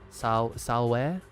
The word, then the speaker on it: Salve: Ave, salve. Salve? The V sounding like a W or long U.